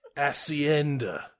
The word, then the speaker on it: hacienda: to the to the hacienda hacienda how do you pronounce spanish for us thank you acienda jason statham's language school